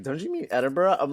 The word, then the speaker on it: Edinburgh: But yeah, I heard is is it pronounced Edinburg? I think. Yeah. Edinburgh. Edinburgh. Edinburgh. Oh, Edinburgh. So, I've been doing it all wrong. No, I thought Edinburg. I was like Edinburg. I thought it was Edinburg for the longest time, too.